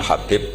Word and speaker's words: Habib: yang nulis Abi Abdurrahman Habib assulami itu di harakatnya kitab itu ada yang nulis khubb tapi yang benar Oh gigih yang benar itu bacanya habib habib itu asulami itu ikut